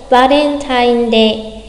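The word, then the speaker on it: バレンタインデー: đọc giống nhau, cho nên bạn có thể đọc lái hẳn sang chữ vờ là va thay vì là ba, được không đọc quá rõ là Valentine mà là Valen, kiểu lái chữ vờ ấy.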